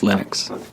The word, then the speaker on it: Linux: lonus and I really don't care how people pronounce my name but Linux is always Linux he developed a kernel and got it working